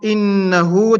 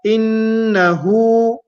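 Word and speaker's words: إنه: The first letter is hamzatul qata', so it is always pronounced I, coming from the bottom of the throat. The next letter is noon. Noon has a shadda. It has a tashdid here, so noon will have a ghunna.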